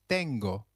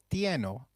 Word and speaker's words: tengo: irregular verb to have I have translates to Jo tengo remember it is not Joe tieno as a regular verb might have been it is good now